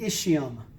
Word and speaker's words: ischium: i used to say see my bomb it's the ischium so ilium ischium pubis